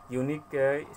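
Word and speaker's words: unique: 22 इट वाज अ यूनिक site, यहाँ पे यूनिक भवेल letter से शुरू है लेकिन उसका उच्चारण कॉन्सोनेंट है, कॉन्सोनेंट साउंड से शुरू होता है, अतः यहाँ पे ए का प्रयोग होगा।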